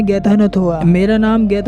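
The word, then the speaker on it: Ghatanothoa: से कहता है कि मेरे नाम को प्रोनाउंस करना बहुत ही ज्यादा मुश्किल है इसके लिए तुम्हें अपनी जुबान को पकड़ना है और बोलना है गैथ न थोवा मेरा नाम गैथ न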